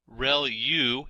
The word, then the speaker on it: ReLU: ReLU is how that is pronounced.